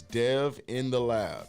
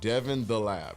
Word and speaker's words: Dev in the Lab: on instagram follow me the name is dev in the lab d-e-v in the lab devon the lab if you want to say it like that all right go for